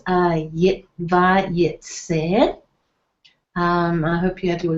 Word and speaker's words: VaYeitzeh: So, VaYeitzeh. So you can see the emphasis or the stress will be on the last syllable of the word.